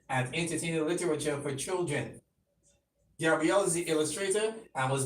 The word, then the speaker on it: Gabriel: Is it Gabriel or Gabriel? Well, it doesn't matter. Some people pronounce it differently. Okay. Like in my country it's Gabriel, but here in Barbados I find that Gabriel is more common.